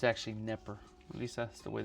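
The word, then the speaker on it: Knepper: It's actually Neper. At least that's the way they pronounce it.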